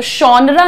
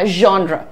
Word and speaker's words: genre: तो शॉनरा नहीं बोलना है इसको, शॉ नहीं है, रा नहीं है, ज नहीं है, जॉनरा नहीं बोलना है इसको। क्या बोलना है, ज और श का ब्लेंड करना है। क्या कहिएगा, जॉनरा, ठीक है। र हल्का है, इट्स प्री लाइट।